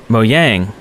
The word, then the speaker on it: Mojang: he was swedish and he told us that it was uh not mojang it was mo yang it's how you pronounce it but then we got a bunch of emails and stuff from people saying no no no that's not right it's not mo yang it's mojang and then